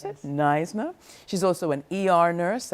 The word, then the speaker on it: NYSNA: Is that how you pronounce it? Yes. NYSNA.